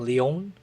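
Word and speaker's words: Lyon: He's French and I think he's from Leon, as they pronounce it.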